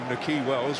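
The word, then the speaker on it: Nahki Wells: you may be wondering why we're calling him Nakhi Wells. Well, that's because he has said that's how he likes his name to be pronounced, so don't blame us.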